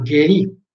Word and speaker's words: geri: La G di Genova o di Gorizia è sempre detta dura, come appunto in Gorizia, quindi non è Geri, ma Geri. E poi veniamo a Geri, tanto già ve ne